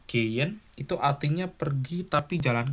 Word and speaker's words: gehen: Kaufen artinya belanja, gehen, bacanya gehen ya. Bukan gehen, bukan, tapi gehen itu artinya pergi tapi jalan kaki.